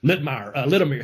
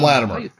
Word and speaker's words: Latimer: Is that Littimer. How you say it, Tom? Yeah, Tom Latimer.